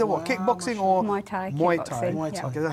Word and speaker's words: Muay Thai: Muay Thai.